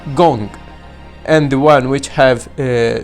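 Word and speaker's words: 工: For example, the half which looks like capital I is called gong, and the one which have three dashes or dots on the left pronounced as shui.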